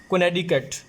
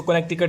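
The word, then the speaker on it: Connecticut: इसको फ्रेंड्स जो प्रोनाउंस करते हो कहते हैं कोनेडिकट, कोनेडिकट, ठीक है, कोनेडिकट इसको प्रोनाउंस करते हैं। वैसे आप इजी के लिए, आसानी के लिए इसको कनेक्टिकट भी पढ़ सकते हैं।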